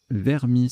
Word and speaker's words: vermis: Le coup suivant, Vermis, ça se prononce ainsi, j'ai vérifié, VRMIS, à 24, sous-top versus à 22, Miro pluriel et Ver VRS en K11 9G, ça fait 21.